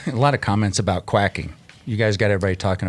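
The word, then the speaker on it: Kwiatkowski: think JP's going to pull up the proper pronunciation of quacking. This is Van Avermaet sent this. Thank you, Greg. Quacking.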